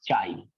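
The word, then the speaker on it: χ: इसको ऐसे बोलते हैं चाई। इसकी प्रोनाउंसिएशन ऐसे है चाई। ऐसे बोल लो चाई।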